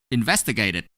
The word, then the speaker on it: investigated: As you can see, the last letter of investigate is E. However, the ending sound of investigate is T. That's what we need to know. Since T is in group 2, we're going to pronounce ed as it when we add ed to investigate.